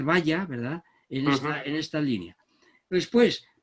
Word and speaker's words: Valla: Yo prefiero pronunciar Valla, ¿verdad?, en esta línea.